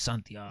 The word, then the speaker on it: Santiago: I mean, it's a nice name, but if you say it right, it's just Santiago. Santiago. Yeah, you gotta really get that accent in there right, and then it's good.